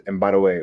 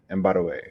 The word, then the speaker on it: Mbadiwe: And my last name is Mbadiwe, which is spelled M for Mary, B for boy, A for apple, D for David, IWE, Mbadiwe.